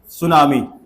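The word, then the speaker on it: tsunami: और क्या होता है उसको अंग्रेजी में टी सुनामी बोलते हैं टी साइलेंट हो जाता है सुनामी जब महासागरों में होता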